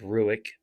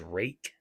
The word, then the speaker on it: Ruike: Looks like Ruike, but I've heard it's pronounced as Rake. So I'm going to go with Rake.